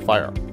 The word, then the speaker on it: FHIR: with the definition of Fire Health level 7 which is the leading standards development Organization for medical data worldwide has as one of its primary standards fhir pronounced fire that stands for fast